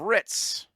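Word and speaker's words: Hritz: but anyway I was going to say Ritz not like the cracker this is spelled with an H at the front of it turkana tries to emerge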